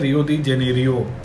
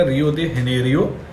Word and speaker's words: Rio de Janeiro: Like when you talk in English तो इसको pronounce किया जाता है रियो डी जेनेरियो इन ब्राज़ील. पर जब आप इसको ओरिजिनली पोर्तुगीज़ लैंग्वेज में बोलेंगे तो ये हो जाता है आपका रियो de Janeiro इन ब्राज़ील.